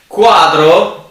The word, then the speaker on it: quadro: Quadro, the Q in reality has the same sound as C, maybe a stronger sound, and we use it as in common use, but the pronunciation is in reality a C or a strong C.